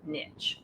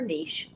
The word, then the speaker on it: niche: But the next question is, are you recognized as the expert in your niche or niche, however you choose to pronounce that?